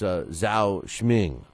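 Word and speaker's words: Zou Shiming: Brian Valora, it's Zhao Shming is how you say it.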